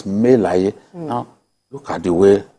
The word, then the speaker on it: Dino Melaye: The right pronunciation for his name is Dino Melaye. I don't own the word. Wow. That's what it means. in our language. Right. You know, what people say, Senator Dino Melaye. There's no such thing as Melaye. It's Melaye.